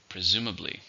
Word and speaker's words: presumably: How many syllables are in externally? 4. Stress on the second.